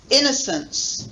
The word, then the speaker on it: innocence: Second one, main stress on the first one, innocence.